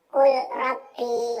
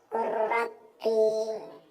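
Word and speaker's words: قُلْ رَبِّ: Contoh lam bertemu ra, Qul Rabbi, gak boleh bacanya gitu, gak boleh. Akan tapi bacanya Qur Rabbi, Qur Rabbi.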